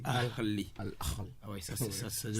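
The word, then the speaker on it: الأهلي: Vous savez comment vous avez prononcé? Vous avez dit Al-Ahli. Et vous avez tellement bien prononcé ça. Ah oui. Non, vous avez bien prononcé. Parce que vous tenez. Je tiens à cela. Il ne faut pas passer à côté de ce beau nom. Vous avez bien dit Al-Ahli.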